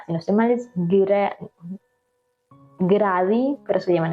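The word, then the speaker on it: Grady: no estoy mal es gradi, pero se llaman, o sea, la pronunciación sería como gravy, algo así.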